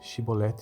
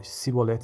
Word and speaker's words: chibolete: respondesse que não diziam Então diga chibolete se ele dissesse a sibolete sem conseguir pronunciar corretamente a palavra prendi um no